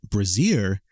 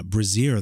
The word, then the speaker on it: brassiere: thing as a Brazier I know it phonetically looks the same but Brazier is spelled b-r-a-s-s-i-e-r-e and yeah I mentioned this because I have heard one person at least at least one mispronounce it anyway so yeah Brazier that's